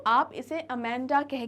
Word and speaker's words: Amanda: या हिंदी में बोलेंगे तो जो एक उच्चारण निकल कर आता है वो होता है अमांडा, ठीक है, अमांडा। लेकिन जो रियल प्रोनाउंसिएशन, करेक्ट प्रोनाउंसिएशन है इसका इंग्लिश में वो होगा अमेंडा, ठीक है, समथिंग लाइक दिस, अमेंडा।